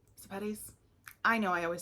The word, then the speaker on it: Sepetys: Next up, and I just read this one this year, and this was Ruta Sepetys. Sepetys?